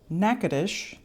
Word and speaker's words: Natchitoches: It is pronounced Natchitoches. It's nothing like it looks.